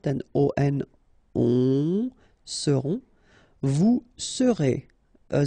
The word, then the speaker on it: seront: pronounced, then on, on, seront, vous serez, a Z together at the end, et serez, alright, ils seront, final T not pronounced, and then you've got this nasal, on, seront, elles seront.